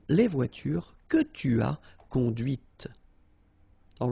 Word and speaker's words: conduite: And that's when you hear the difference between conduit, because remember, final T is not pronounced, conduit, here, and then the feminine, conduite. Okay, so here you can listen to this t, t, okay?